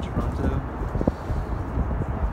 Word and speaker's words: Toronto: This is the beautiful waterfront in Toronto. Pronounce it with a T because that's how it's actually pronounced.